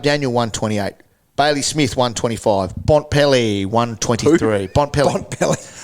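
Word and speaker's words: Bontempelli: Last week, McRae 138, Caleb Daniel 128, Bailey Smith 125, Bontpelli 123. Bontpelli. I take a syllable out, makes it quicker.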